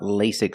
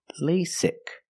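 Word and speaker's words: LASIK: about lasic surgery first pronunciation lasic the first vowel is a long a like say and day lay lasic the second vow is a short I sound like this is lasic lasic surgery pronunciation surgery use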